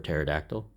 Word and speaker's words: pterodactyl: So, yeah, I was talking and suddenly saying I had to sell you on the P board, but the P is silent in pterosaur or pterodactyl.